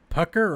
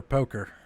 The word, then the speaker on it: Pucker: Pucker or poker? Pucker, like a sour. It's a sour green apple, but it's subtle. Pucker Nah. rhymes with fucker.